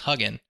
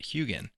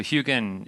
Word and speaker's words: Huginn: talk about Concepts and many things we just pronounce them differently and so I thought it was hugging ever since I've heard about it which was